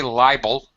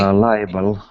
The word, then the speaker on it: liable: Okay, Anatoly, don't say libel. Say Liable. Liable. liable. Yes, 3 syllables.